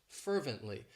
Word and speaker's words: fervently: It has 3 syllables and the stress is on that first syllable, fervently.